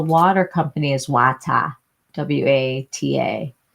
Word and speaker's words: Wata: W A T A Wata. And that's how they say it in PWA.